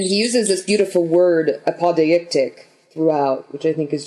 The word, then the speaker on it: apodeictic: And he uses this beautiful word, apodeictic, throughout, which I think is just... Yeah. Isn't it just apodictic? Isn't that the pronunciation? I think it's apodictic, meaning demonstrable.